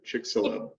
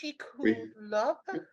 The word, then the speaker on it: Chicxulub: Hello, the X is an H sound, right? The Chicxulub crater.